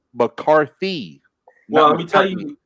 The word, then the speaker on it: McCarthy: the other day that I always say Mike McCartney's name wrong. Yeah, you do. You just said it wrong again. I thought you did. I thought you was doing that on purpose, but his name is McCarthy.